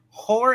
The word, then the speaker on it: horror: Horror anthology? Okay, yeah. Yes, a horror. Y'all stop making fun of the way I say horror. Okay, it's horror. I'm saying 2 syllables there.